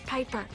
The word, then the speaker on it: Piper: a crane amanda bynes the name's piper rhymes with viper and robin williams i'm